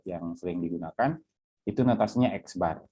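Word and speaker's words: x̄: lambangnya seperti ini itu dibacanya dibacanya X bar ya oke kemudian macam-macam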